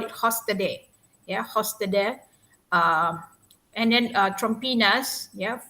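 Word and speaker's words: Trompenaars: We study about Hofstede, but this for Dutch they call it Hofstede, Hofstede, and then Trompinas, for Dutch, the pronunciation is Trompen-As, and Hofstede, is actually,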